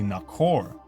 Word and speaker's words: Nahor: This is interesting because the name Nagar is close to Nakar, and the accurate pronunciation of Nahor is actually Nakor.